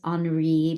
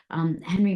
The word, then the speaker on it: Henry: And Henry, yes, a lot of people think it's Henri because of the spelling, but actually Henry came from Louisiana. So it's pronounced the American way.